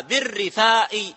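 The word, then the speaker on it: بالرِّفاء: أمر الجاهلية بالرفاء والبنين، وهكذا نطقها بكسر بتشديد الراء وكسرها بالرفاء والبنين.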